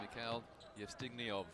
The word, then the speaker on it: Mikhail Yevstignev: On court for the first time, number 7 for Kazakhstan, Mikhail Yevstignev. We have been assured that's how you pronounce his name.